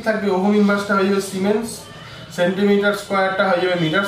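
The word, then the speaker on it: siemens: কিছুই না, এই ওহম ইনভার্সটা সেটা হয়ে যাবে সিমেন্স। আমরা জানি এসআইতে এটা উচ্চারণটা সিমেন্স হয় এবং এস দিয়ে লেখা হয়, বাকি জিনিসগুলো এখানে সেন্টিমিটারের জায়গায় হয়ে যাবে metre, metre square mole inverse.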